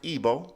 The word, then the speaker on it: Igbo: let's continue from the IBO ethnic group I know it looks like Igbo but it's pronounced IBO right ethnic group of